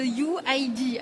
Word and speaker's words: UYD: Vous avez 21 ans, vous venez de Quimper et vous êtes le fondateur de UID. Alors ça s'écrit UYD pour nos auditeurs, c'est important de le préciser.